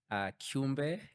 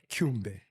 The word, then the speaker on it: Kumbe: Pastor Sammy Kumbe. Yeah. Am I pronouncing it right? Yes, towards the end, you're putting the South African accent, which What's it supposed to sound like? Kumbe. Kumbe.